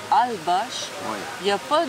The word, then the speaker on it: Holbox: L-B-O-X, mais ça se prononce Ch. Fait qu'on dit Holbosh.